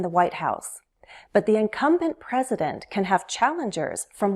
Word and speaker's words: incumbent: Incumbent. Incumbent. Incumbent. Stress is on the second syllable. Incumbent.